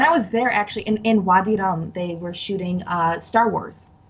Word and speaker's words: Wadi Rum: Wadi Rum, like It's rum like you drink.